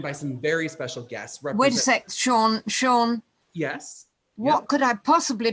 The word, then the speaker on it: Sean: nobody else is talking sean that's how we pronounce it is that what you say it is yes that's how i spell